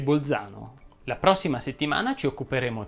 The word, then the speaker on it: Bolzano: z sorde o aspre la z andrebbe pronunciata sorda quando è davanti alla consonante l infatti si direbbe rialzare rimbalzare smilzo calzolaio infilzare balzello balzano sobbalzare calza innalza le uniche eccezioni sono belzebù e bolzano la prossima settimana ci